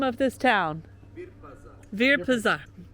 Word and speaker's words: Virpazar: Virpazar. Virpazar.